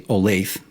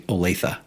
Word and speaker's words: Olathe: People not from here say Olathe, locals say Olathe.